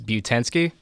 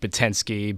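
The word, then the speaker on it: Butanski: name come from well my last name is butan ski and you know growing up people would always you know pronounce it wrong patinsky but in sky you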